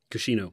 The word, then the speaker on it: Cuscino: So, and then Josh, the SILCA bar tape, the Cuscino. Am I pronouncing that right? Cuscino.